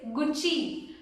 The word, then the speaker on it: Gucci: The correct way is Gucci. Gucci. The double C you have to pronounce it as chi, which means Gucci.